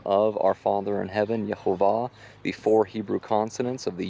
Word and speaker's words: Jehovah: you put it all together and the correct pronunciation is Jehovah and it was Yahveh who declared to his